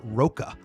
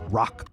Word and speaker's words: Rocca: the comments and said it's not Roka it's rock uh you know about